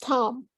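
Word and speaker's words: טאַם: It's Tam with a pasach aleph, right? It's pronounced Tam.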